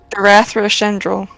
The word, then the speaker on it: Darathra Shendril: Too many syllables turns. Yeah. Darathra. Darathra Shendril.